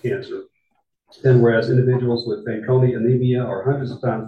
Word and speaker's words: Fanconi: And I am pronouncing that correct. Fanconi? Yes.